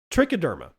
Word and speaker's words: Trichoderma: Trichoderma or trichoderma, depending on how you want to pronounce it.